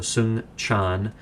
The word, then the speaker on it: Soong-Chan: It's spelled SOONG-CHAN, so Sung Chan, and then the word Ra, R-A-H, is his last name.